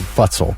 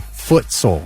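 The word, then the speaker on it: futsal: TS a l so I said it the way it looked to me futsole but it's actually footsole like soccer being called football f u t b a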